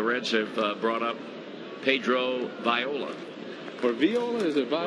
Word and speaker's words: Viola: Tom maintains the correct Latin American pronunciation for that last name is Viola. Well, it is. I mean, the I is pronounced as a hard E in Espanol, and so that's how you would say it in his homeland, Viola.